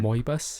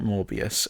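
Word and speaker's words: Moebius: Mobius. Mobus. M O E B I S. Mobius. It's not Morbiiius. Or at least it's not spelled like Morobius.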